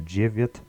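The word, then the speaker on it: девять: a nine is and very similar to nine is tin the only thing that changes is the V to a c so jiviat is nine and Jesus is ten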